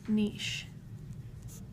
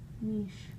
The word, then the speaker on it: niche: included in an organism's niche Niche or Niche some I think both are acceptable pronunciation all right anyway biotic